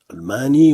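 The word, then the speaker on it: ألماني: Almani, on prononce plutôt almani, signifie allemand.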